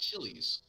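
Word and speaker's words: Chili's: back ribs and margaritas i believe it is pronounced chilis like that say ruby tuesdays um yeah got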